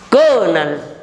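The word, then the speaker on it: colonel: Kernel, kernel. Please note here, the spelling is C-O-L-O-N-E-L, but the pronunciation has only 2 syllables.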